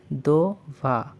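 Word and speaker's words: два: পরবর্তীটি হচ্ছে দভা।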